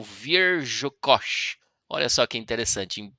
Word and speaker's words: Wierzchos: Aproximada em português seria, ó, o W soa como V, o I é a pronúncia de I, o R Z é basicamente a pronúncia de J, né, como Ja, é mais suave assim.